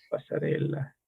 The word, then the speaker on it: Passarella: Passarella pasarela. se escribe con doble L al final, Passarella, con doble L. Y Claro, no es y pasarella, sino que es pasarella, porque es bien italiano, vamos a decir, ¿no?